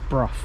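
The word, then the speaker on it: Brough: On every service they call it Bruff.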